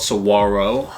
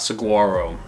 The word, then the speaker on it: saguaro: It's not saguaro. Saguaro. So if you come to Phoenix and you're like, oh wow, the saguaros are so great, you might get looked at a little funny. So it's saguaro.